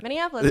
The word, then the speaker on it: Minneapolis: Minneapolis, yes. Okay. That's one of the hardest cities for me to pronounce.